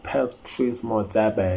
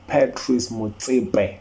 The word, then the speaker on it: Patrice Motsepe: It's not Patrice Motsepe, it's Patrice Motsepe, man. Say it right, man.